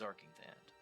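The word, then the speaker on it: Arkngthand: I have to say that for me, one of the most memorable locations from my time playing through Morrowind is Arkingthand. Okay, that's how you pronounce it.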